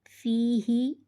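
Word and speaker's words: فِيهِ: Fa yazir fi, hazir hi, fihi. When there is zir before ya sakin, it becomes ya madda. Pronounce the letter of madda by elongating them up to one alif, i.e. up to two harakat.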